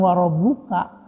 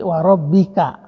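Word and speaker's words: وَرَبِّكَ: itu juga huruf Jar Jadi bukan warobbuka dibacanya tapi Waro Bika jadi di tidaklah demikian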